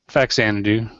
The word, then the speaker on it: Faxanadu: Faxanadu. Okay, that sounds right. Faxanadu. Yeah. I was a little confused on whether the X was pronounced with a Z.